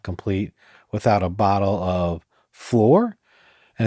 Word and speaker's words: Shloer: In North, a Christmas celebration is not complete without a bottle of Flor. And it's funny, it's spelled SHLOER, but it's pronounced floor.